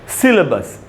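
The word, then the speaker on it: syllabus: ये देखिए आपके सामने प्रोनाउंसिएशन लिखा है, सी पढ़ी स्ट्रेस है, बड़ी ई का साउंड निकालना है, ल के बाद आधा अ है, यानी ल पर थोड़ा सा रुकना है, सिल, और उसके बाद है बस, सिलेबस।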